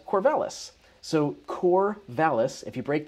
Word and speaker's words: Corvallis: in your mouth while you're saying it, Corvallis. It's more like Corvallis.